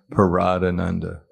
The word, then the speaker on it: Prahladananda: So it's pronounced. So my name is Prahladananda. Prahladananda.